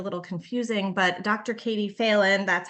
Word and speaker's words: Phelan: Katie Phelan, that's how she pronounces her name.